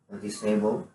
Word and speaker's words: noticeably: The E doesn't have any pronunciation. Yeah. Okay. Yeah, there's no E, there's like notice. So, Yeah, it's just notice.